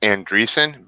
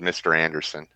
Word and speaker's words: Andreessen: It's actually pronounced Andreessen, but I don't mind being called Mr. Anderson.